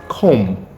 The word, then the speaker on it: comb: Speaking of unpronounced letters, we have this. I want to believe you still don't say comb. No, it's pronounced comb. Comb.